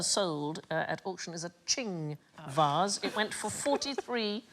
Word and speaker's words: Qing: It rhymes with bling. Ping. Thing. Thing. I like thing. Most expensive Chinese item ever sold at auction is a Qing vase.